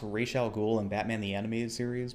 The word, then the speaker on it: Ra's al Ghul: liked to seen a Middle Eastern actor play Ra's al Ghul?